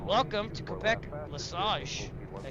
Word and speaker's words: Lesage: All right, welcome to Quebec Lesage. Did I say it right? Lesage?